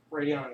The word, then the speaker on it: Radeon: Oh, Radeon is the software that runs AMD chips. Oh, it's Like the Radon.